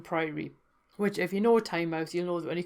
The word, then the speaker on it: Tynemouth: going to is Tynemouth, which I do sometimes hear people pronounce as Tynemouth, which I find really odd because it's the River Tyne, therefore if it's the mouth of the Tyne, should it not be Tynemouth?